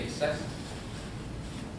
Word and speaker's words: Texas: sin el acento circunflejo entonces Texas se pronuncia J siempre se PR se pronunció qué